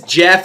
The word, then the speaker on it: Geoff: Who is Geoff or Geoff, as I say? Geoff. Well, first of all, I got to thank my parents for naming me Geoff. Pronounced Jeff, but none of my friends ever got it right.